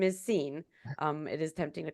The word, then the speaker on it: Sean: His name is pronounced Scene. It's spelled Sean.